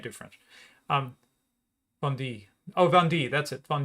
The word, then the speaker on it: Vendée: can't i can't do french um bundy oh vandy that's it fun d um the revolt in